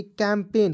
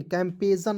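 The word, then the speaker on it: campaign: ठीक है, उसके बाद सी ए एम पी ए आई जी एन, तो क्या पढ़ेंगे, कैंपेन, कैंपेजन नहीं पढ़ लीजिएगा, क्या पढ़ेंगे, कैंपेन पढ़ा जाएगा दोस्तों।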